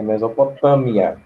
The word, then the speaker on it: Mesopotâmia: Eu sei que é com M, só que aí eu falei com N. Pronúncia errada. Pois é Mesopotâmia, tá?